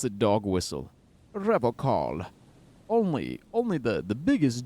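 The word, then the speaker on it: Revachol: He pronounces Revol with a hard K, unlike other people. You said Revacol.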